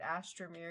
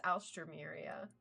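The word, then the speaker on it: Alstroemeria: I couldn't remember if I was pronouncing it right, Astramia or Alstra, but it's Alstraia.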